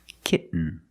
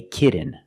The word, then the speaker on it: kitten: to an N kit when you make the stop T the tongue is up almost in the end position so you don't have to change much kit kitten but don't say kitten I cannot pronounce these T's as a fast D I cannot say kitten it's kitten or more commonly kitten no I want a